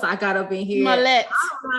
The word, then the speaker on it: Smollett: Smollett. I don't know how to pronounce names good.